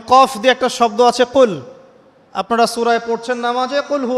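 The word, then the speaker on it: قل: যেমন একটা অক্ষর আছে কফ বড় কফ যেমন কফ দিয়ে একটা শব্দ আছে কুল আপনারা সূরায় পড়ছেন নামাজে কুলহু আল্লাহু আহাদ তাই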